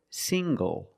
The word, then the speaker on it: single: Also, this word single. Single. The ng makes the nasal sound plus the hard G.